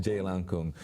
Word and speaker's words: Jailangkung: actually um yeah the the correct way to say it is actually J Lan Jay Lan Kung about this movie okay